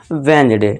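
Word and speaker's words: Wednesday: पढ़ा है ना, और जी से पहले डी हो तो डी हमारा साइलेंट हो जाएगा और इसे क्या पढ़ेंगे हम, वेडनेसडे।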